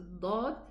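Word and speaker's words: ض: itbaq properly, that the whole tongue rises, touches and presses on both sides. The pressure is on the tongue edges, and then the front part is just touching, okay? So this is how we pronounce the dad. Otherwise, it's going to sound like a dal.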